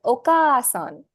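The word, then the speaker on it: おかあさん: have just learned okasan elongation okay so using the already existing syllable to demonstrate the elongation when you write a similarly obasan yes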